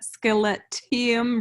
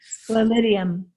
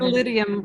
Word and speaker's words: Sclerotium: And this is where, go ahead and pronounce that one, but scaletium root. Sclerotium is how they say it. Sclerotium root.